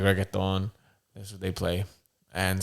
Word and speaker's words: reggaeton: Yeah, but anybody else that says they're just like reggaeton, and then it's funny because you're supposed to roll your R.